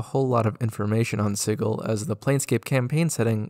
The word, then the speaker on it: Sigil: but I do personally like it being pronounced sigle because it makes it very clear that we aren't talking about a Sigil which is a word that definitely gets used while playing DND d a signal of